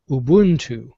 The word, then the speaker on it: Ubuntu: beings yep if you if you listen to how most african words are pronounced it would just make sense that it would be pronounced ubuntu all right i feel